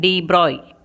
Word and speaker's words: de Broglie: So in 1924, the French scientist Louis Victor de Broglie, pronunciation de Broglie, Okay.